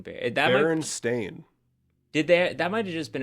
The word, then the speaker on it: Berenstain: everyone thought it was spelled EIN. It's AIN. Oh. It wouldn't be like Berenstein, kind of No, like not as in the German Stein, no.